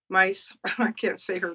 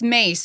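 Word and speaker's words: Myss: do what like Carolyn miss mice it's pronounced mace but you know what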